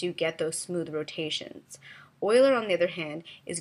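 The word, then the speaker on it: Euler: It looks like it's uler, but I've been told it's pronounced Oiler.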